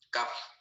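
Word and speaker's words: cuff: CAF. Se escribe C-U-F.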